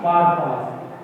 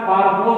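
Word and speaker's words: purpose: আবার এইমের জায়গায় আমরা পারপাসও দিতে পারি না, এই অথবা পারপাস। লেখাটা পারপোজ বলে, উচ্চারণ হবে পারপাস।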